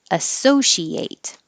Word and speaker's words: associate: And if it's a verb, the ATE sounds like ate. Associate.